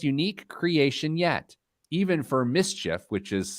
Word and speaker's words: MSCHF: In the whole history of sneakers, this might be the most unique creation yet, even for Mischief, which is spelled MSCHF, even for their ultra high standards.